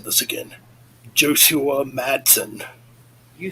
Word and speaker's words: Josua Madsen: So, yes, rest in peace to Jim Durkin and I'm going to mess up pronouncing this again. Josua Madsen.